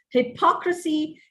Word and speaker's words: hypocrisy: That's the right pronunciation of these words. Hypocrite, hypocrisy, hypocritical.